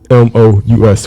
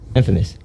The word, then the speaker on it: infamous: Okay, so now the next word is INFAMOUS. What do that spell? Infamous.